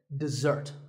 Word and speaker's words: dessert: syllable is dip and the second starts with a Z sound we stress the second syllable dessert this word refers to